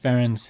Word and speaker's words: Ferencz: Yeah, it's pronounced FairEnds. And one of the things that a lot of people don't know is FairEnds, the brand, is actually the phonetic pronunciation of my last name.